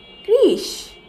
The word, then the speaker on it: কৃষ: যেমন ক রিকার ক্রি, সাথে তালবস্য, তাহলে এই শব্দটির উচ্চারণ হবে কৃষ। ক রিকার ক্রি এবং সাথে রয়েছে তালবস্য, কৃষ।